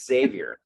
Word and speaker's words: Xavier: in bardstown call it main street xavier it's savior just like yes i agree with that and